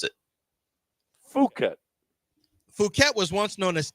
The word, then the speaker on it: Phuket: It's Fuket.